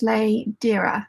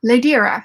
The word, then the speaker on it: Ladera: Ladera says, my name is pronounced Ladera. Ladera.